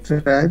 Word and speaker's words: derive: ড্রাইভ মানে এই যে চালানো আর কি, পাওয়া। এখানে ড্রাইভ না, এটা এই জন্যই বলেছি উচ্চারণে ভুল আছে। ডিরাইভ, ড্রাইভ হচ্ছে কোনো কিছু থেকে পাওয়া।